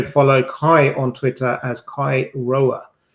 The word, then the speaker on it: Kai Roer: and also follow Kai on Twitter as Kai Roer. Don't ask, it's spelt how it's pronounced.